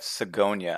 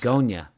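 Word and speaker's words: Zgonina: Jeff Zagonia, I think is how you pronounce Zagonia. it. Sounds like a flower.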